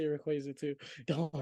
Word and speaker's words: Rayquaza: Like Rayquaza, Charizard, Dragonite, Salamence. I could go on. Like, they just Ew, look wait, sick. hold up. Did you just say Rayquaza?